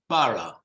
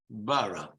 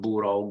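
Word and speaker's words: borough: written this way okay it's written but it's pronounced para Bara not burro gurbara for whatever um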